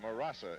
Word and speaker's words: Murasa: defense taps it away murasa em a ras a that is correct I would have never